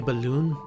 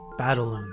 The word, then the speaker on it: Battaloon: You just want to say balloon, but it's Battaloon. Battaloon, that's how you say it.